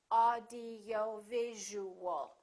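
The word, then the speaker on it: audiovisual: like this audio visual audio visual has six syllables audio visual in that case you really it's very important to know which syllable is stressed in this case it's going to be right here audio visual audio visual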